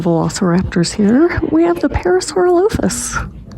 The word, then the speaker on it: Parasaurolophus: Towering above the velociraptors here, we have the Parasaurolophus. Or, depending on where you're from, Parasaurolophus. I've heard it pronounced both ways. I've always said Parasaurolophus.